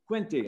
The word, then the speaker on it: Quinte: How's that pronounced, somebody? Quinte. Quinte, all right.